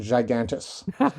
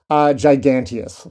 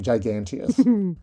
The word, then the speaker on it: giganteus: Or, in science words, Mastigoproctis gigantus. It might actually be giganteus. Sorry, giganteus.